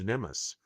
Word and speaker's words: NMMSS: This program is identified using the acronym NMSS pronounced NEUS. NEMIS stands for the Nuclear Materials Management and Safeguard System.